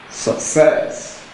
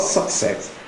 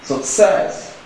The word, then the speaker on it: success: stress if it's pronounce success the stress is on the first Sy but the correct pron pronunciation of the word is success success in that case the stress falls on the second syllable they will have option